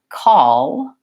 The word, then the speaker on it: call: into the bowel versus dark L is used in the middle and ends of words primarily at the end of a syllable so for example in the word call call a tongue still comes up to finish that L sound but it really has kind of an O sound before it call oh oh and so